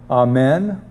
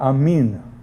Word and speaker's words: amen: word when they pray we use slightly different pronunciations amen and amin but when we say